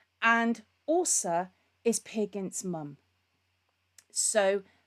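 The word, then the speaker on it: Åse: spelled as e but it's got a special Circle over the top of it and that means that it's actually pronounced as Osa and Osa is pig against mom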